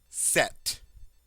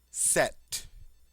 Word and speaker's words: sept: like an s seven set set set the p is silent you probably see the